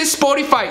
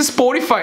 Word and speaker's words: Spotify: no se dice barcelona y no se dice sport y faith si se dice es por ifa es el nombre real pero bueno le puedo decir spotify no hay pedo es exactamente lo mismo el mensaje se entiende